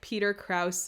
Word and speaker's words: Krause: I'm still waiting for some sort of like Peter Krause. I pronounced his name correctly that time.